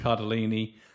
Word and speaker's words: Cardellini: Cardolini. Cardellini.